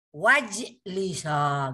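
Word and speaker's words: واجلسا: Wajlisa gitu bacanya. Masuklah dan duduklah gitu. Wajlisa. Maka alifnya nggak dibaca karena dia bukan alif, itu hamzah wasal.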